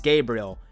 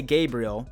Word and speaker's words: Gabriel: So from now on, ladies and gentlemen, it is Gabriel. And you best say Gabriel because of all you